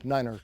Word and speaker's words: niner: eight tree tree eight notice the way i say it say it like the far aim asks us to say these numbers so that's the way